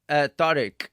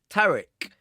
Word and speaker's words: Tariq: And you said Tariq. I know some people would say Tariq. And so there's a difference, isn't there, between Tariq, which is, I think, the proper pronunciation, and Tariq.